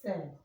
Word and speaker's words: said: So the only one that has the sound is said.